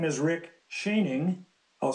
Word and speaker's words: Schoening: members of the committee my name is Rick shaning I'll spell it out it's s c h o e